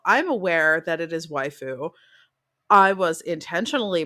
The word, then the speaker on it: waifu: As I pointed out in the replies on Twitter as well, I'm aware that it is waifu. I was intentionally pronouncing it waifu because it's not wife forest.